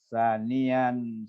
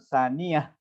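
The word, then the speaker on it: ثَانِيًا: Tadi ketika membaca sanian, salisan, robian sampai khomisan, itu di situ nggak ada taknya, bukan saniyah. Nah, saniyah itu artinya dia punya ada tak di ujungnya, tapi sanian. Nah, sanian, salisan, robian, itu bacanya.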